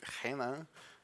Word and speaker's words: Hannah: It's pronounced it ha because it's Portuguese and um yeah I'm